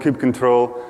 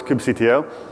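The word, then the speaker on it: kubectl: bit of an argument and but I do pronounce it some people say Kim CTL is all cuddle and cube control I'm on stage and I have a microphone so it's cube CTL yeah and the first thing you want to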